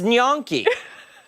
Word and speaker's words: gnocchi: It's gnocchi. I have never heard the end pronounced so.